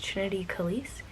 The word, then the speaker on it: Trinity Kelyce: then it was Trini, and then now it's Trinity Kelyce.